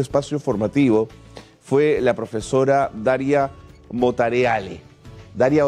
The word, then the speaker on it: Daria: Bueno, como bien dices, mi nombre se pronuncia Daria, pero aquí todo el mundo me dice Daría, porque bueno, yo soy